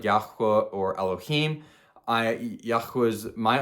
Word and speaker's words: Yahuah: I'm not I say Yahuah. I'm not saying you should say Yahuah. It's just how we say it.